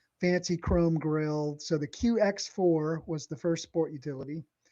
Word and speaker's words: QX4: It was a QX QX4 and it was supposed to be sort of pronounced Q by4, you know, like it's a 4x4.